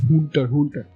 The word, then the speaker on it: Hunter x Hunter: The last thought-changing event I wanna mention today is from a little known show called Hunter x Hunter. And yes, that is the correct pronunciation.